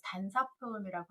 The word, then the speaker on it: 단사표음: 그 가난함을 표현할 때 단사표음이라고 하는데 밥식이라고 읽지 않고 사라고 읽어요.